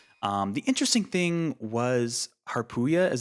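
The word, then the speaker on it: Harpuia: to stop it um the interesting thing was haruya is how you pronounce the name of one of the one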